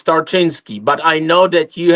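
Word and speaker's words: Tarczyński: Is that right, Tinski? It's not It's not easy to pronounce it. It's Tartinsky.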